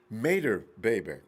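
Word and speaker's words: Imatorbhebhe: really his name is josh made her baby mater baby okay a mater baby with the eye a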